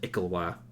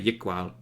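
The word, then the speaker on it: Iklwa: I think it's, from the pronunciation guide, it's an Ikalwa, which just sounds dumb. Okay. I know, you'd think it's like a Yikwa.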